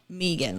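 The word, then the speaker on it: Meaghan: actually joined the military her name is Megan but it's spelled Megan like m-e-a-g-h-a-n yeah but Megan to me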